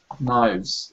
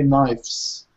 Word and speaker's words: knives: Knives. Excellent. And make sure that it's a proper V, yeah? And it's not, some students might say knives, and pronounce it with an F, which is incorrect.